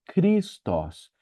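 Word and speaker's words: Χριστός: você ver essa letra, ela nunca vai ser dita como um X, ela é um K forte, tá bom?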